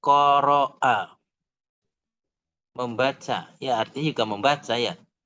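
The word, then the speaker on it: قرأ: Qaf, ra, a. Qaf , ra, lalu a, hamzah, seperti itu. Qaf, ra, lalu hamzah. Ini adalah kata kerja, ini adalah kata kerja bentuk lampau, ini adalah kata kerja bentuk lampau. Membacanya sebagai qara'a.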